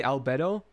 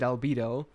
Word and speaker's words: Albedo: because i feel i i used to say alberto but when i heard the official like character trailer i think they said albedo so i was like